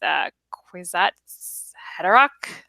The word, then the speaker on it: Kwisatz Haderach: How would Team Westeros deal with Kwisatz Haderach? I'm probably pronouncing that terribly.